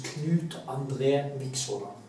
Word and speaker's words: Knut Andre Vikshåland: My name is Knut Andre Vikshåland, so now you know, that's how you pronounce it.